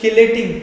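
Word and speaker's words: chelating: देखो कोई कोई इसको प्रोनाउंस करता है किलेटिंग, किलेट या किलेटिंग, लेकिन मैं इसको बोलता हूँ चिलेटिंग, ठीक है।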